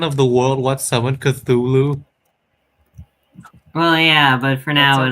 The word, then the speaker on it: Cthulhu: You getting- don't Cthulhu. Okay, Kale. Yes. Please don't tell me you pronounce it Cthulhu. It's Cthulhu. A T what and an I H said. create a th sound.